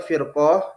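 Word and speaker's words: فِرْقة: perselisihan perpecahan seperti itu kalau kalau Fanya di di kasrh ya firqoh bacanya firqoh itu maksudnya kelompok tapi kalau di domamah furqoh ya ini maksudnya perpecahan seperti itu ya Jadi kata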